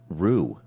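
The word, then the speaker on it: Roux: Row, P-R-O pronunciation. Okay. Rue.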